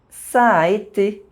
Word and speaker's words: ça a été: In this sentence, there are two identical vowel sounds next to each other. You don't pronounce one of them differently to distinguish them. You simply say a longer sound.